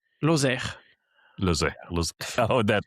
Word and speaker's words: Lozère: Lozère, L O Z E R E R E And you you pronounce it Lozère? Lozère Lozère, Lozère.